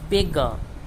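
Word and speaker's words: beggar: का भी होता है, बेगर, बेगर क्या करूँगा, पार्ट, यहाँ पार्ट लिखा हमने, पार्ट, और बेगर को भी यहीं हम लिख देते हैं, बेगा। हम क्या पढ़ेंगे, बेगा, ठीक है।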